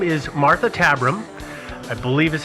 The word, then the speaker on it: Tabram: So the first person that we're going to talk about, her name is Martha Tabram. I believe is how you pronounce her last name. Or Tabram. Tabram? Tabram.